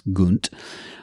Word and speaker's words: Gunt: I mispronounce it. It's Gunt.